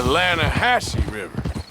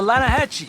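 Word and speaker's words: Lannahechee: some beautiful steelhead trout you mean the Lana hash no no no no the Lana hacci it runs right near here yeah but it's pronounced land it has why is everything in English said differently than it's written make us feel stupid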